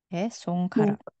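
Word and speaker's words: 손가락: nah jari-jari disebutnya skarakongkarak karak di sini dibacanya seperti karak sungkarak sngkarak Kemudian untuk Hori hori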